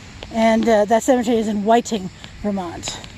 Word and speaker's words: Whiting: that cemetery is in whiting vermont it's spelled just like it sounds kept w-h-i-t-i-n-g and yes google maps